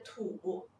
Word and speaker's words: 土: 土的拼音是土，土，它的声母是 t，韵母是 u，声调是第三声。我们一起来拼读 t u 土，土。